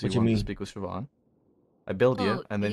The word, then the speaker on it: Siobhan: to you how I spelled it right here s i o b h an D you did it yes I did I know how pronounce Siobhan can you teach those [ __